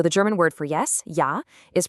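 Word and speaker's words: ja: The letter J is always going to sound like the yes in yes. So the German word for yes, yah, is pronounced ya.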